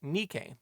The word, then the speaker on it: Nike: They named the line “Nike,” the name of the Greek Goddess of Victory, although said Goddess pronunciation is more like Nee-kay.